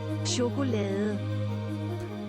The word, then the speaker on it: chokolade: If you think it's pronounced chocolati, press 3. If it's none of these options, press 4. Is it bleh? It's this. Chokolade. Chocolate. Chokolade.